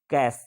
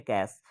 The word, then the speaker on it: cache: आपके पास ऑप्शन दिख रहे हैं देखो, option A register, CD Rome, RAM या कैश जिसको बोलते हैं CACHE स्पेलिंग है इसका, ठीक है, कैश। तो ये आपके पास क्या होगा, रजिस्टर्स, ये सभी क्या है, मेमोरी है, स्टोरेज यूनिट है।